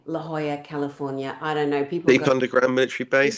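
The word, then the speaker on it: La Jolla: And we went and investigated um a place in La Hoya, California. La Hoya is spelled L L A new word. J O L L A. La Hoya.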